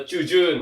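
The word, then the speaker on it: 中旬: Itu ngomongnya adalah chujun, oke.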